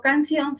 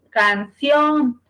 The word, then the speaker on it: canción: sílaba por ejemplo canción Si yo digo canción su sílaba tónica es sí canción la sílaba tónica es Sión Sale ahora cuándo se